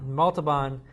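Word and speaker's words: Montalbán: Montalban came in as Khan, did an amazing job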